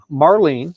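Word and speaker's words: Morline: what was your mom's name your real mom Marlene SP m o r l i n e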